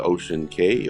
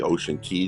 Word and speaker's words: Ocean Cay: let's explore this beautiful Island Ocean K Ocean Key depending on how you like to pronounce it uh let's take a